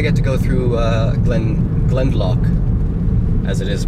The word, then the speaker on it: Glendalough: because today I get to go through Glen Glen lock as it is pronounced as I learned from Tom I got